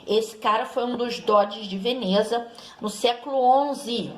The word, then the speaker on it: Doge: E esses grandes comerciantes, eles formaram assembleias, e nessas assembleias eles elegiam o seu representante, que tinha o título de Doge, né? Com a pronúncia italiana, que significa comandante.